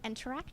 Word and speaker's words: nteract: open source projects called interact okay that's nter a CT you have to spell it wrong so you get the domain name yep it's what happens